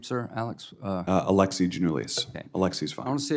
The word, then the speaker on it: Alexi Giannoulias: do you say your name Sir Alex uh Alexi genoulis Alexis I want to see if I got